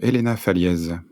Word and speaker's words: Elena Faliez: allons parler des femmes dans la cyber avec Elena fallz bonjour Elena j'espère que je prononce bien ton nom bonjour oui oui tout